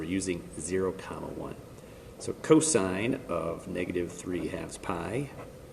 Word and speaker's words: cos: you don't call it cos you don't call it tan you still pronounce it the full word sine cosine tangent that is the same